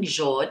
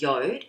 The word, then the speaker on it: Jord: it is um uh it looks like Jord but it's pronounced yod so this company reached